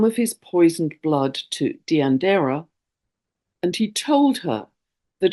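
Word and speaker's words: Deianira: asking about the spelling I believe it's pronounced deander he was asked by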